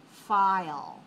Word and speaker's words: file: Now, in English, when you say the sound I and you have the L after it, there's a little bit, it sounds like almost like two syllables because there's an in there. I'll, file, file. So it's not exactly file, that's not English sound. File, file. So I'll has a little bit longer sound, but we still consider that to be one syllable, so we say 1-1.